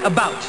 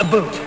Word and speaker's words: about: speak English and French not American and I pronounce it about not a boot I can proudly sew my country's flag and